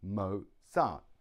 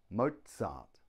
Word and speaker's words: Mozart: here we have the Mozart two syllables Mozart the stress is on the first syllable mo mo Mozart Mozart now notice there's a